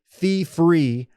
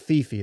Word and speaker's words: fee-free: Fee-free for you and no cash-out fees for them. I should be applauded by how well I've pronounced fee-free, not fee-fee.